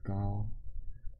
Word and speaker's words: 高: The Chinese family name comes first, so this pronounced as Gao, or in old spelling, in old books spells K.